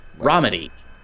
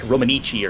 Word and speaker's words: Romiti: Romiti. Romiti. Sounds way more Italian. Oh, it definitely does. I always want to like add an extra E, like Romanici or something, which just sounds totally wrong.